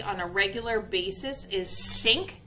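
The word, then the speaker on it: CINC: you will see on a regular basis is syn c i n c it is actually pronounced like syn like the kitchen syn but those are the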